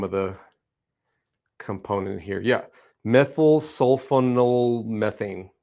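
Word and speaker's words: methylsulfonylmethane: Yeah, methyl sulfonylmethane. Methyl sulfanylmethane.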